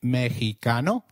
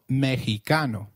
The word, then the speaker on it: mexicano: at them in detail did you notice that the x in mexicano is pronounced as h while x is usually pronounced as x inflexible it is pronounced as a throaty h in the words mexico mexicano and oaxaca which is a state in mexico so can you try